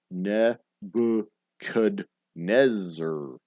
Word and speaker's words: Nebuchadnezzar: built by nebra nebuchadnezzar that's the ne kudneser that's the proper pronunciation nebuchadnezzar uh or in texas there's an extra couple of ours in there neighbor canadore um what river contains the